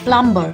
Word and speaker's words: plumber: no he's not a plumber he is a plumber now this is because the letter B in this word remains silent so we call him a plumber there are other examples